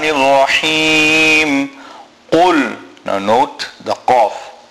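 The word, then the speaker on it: قاف: Now note the qaf. Qaf must be pronounced from the furthest point in the mouth, right in the back of the mouth.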